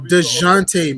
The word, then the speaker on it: Dejounte: So DeJounte Murray.